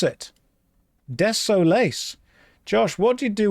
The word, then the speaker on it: Desolace: That's That's how you pronounce it. Desolace.